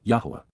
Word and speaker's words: Yahowah: narrow path which give meaning to life which yahwah Yahweh the proper pronunciation of the name of eloa God as